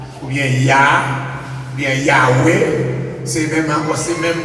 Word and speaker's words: Yahweh: Nous ajoutons deux voyelles là-dedans, A avec E. Qui nous va? Nous va attendre quoi? Yes. A avec E, qui va être prononcé Yahweh.